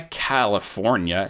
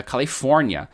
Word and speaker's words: Califórnia: Não é Califórnia, é Califórnia.